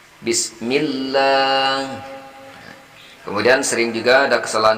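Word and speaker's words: بسم الله: Padahal di sini baris bawah bertemu dengan lapas jalala, bacanya L-nya itu tipis mestinya. Tidak Bismillah. Misal kalau biasanya kita baca, sahabat-sahabat mulia yang kurang pas membacanya Bismillah. Nah, di sini mestinya tidak demikian. Kita baca tipis Bismillah.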